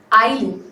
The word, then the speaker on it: Aileen: Ma'am, my name is pronounced Eileen but spelled Aileen.